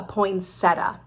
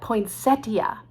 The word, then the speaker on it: poinsettia: comes out at christmas we call it a poinsettia now these people say call it poinsettia but it's just too late we're not going